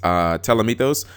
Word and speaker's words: Ptolemaeus: Okay, Newly Forbidden, Eller Entity Norden, and Teller Knight Ptolemaeus. I think that's how you pronounce it. I think the P is silent.